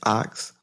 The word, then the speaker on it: Ockz: is my special guest ox is that how you pronounce it is that correct yes all right i first